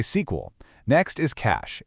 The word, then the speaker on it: SQL: Now, saying SQL is totally fine, but its original name was actually sequel, so you'll often hear senior engineers say sequel.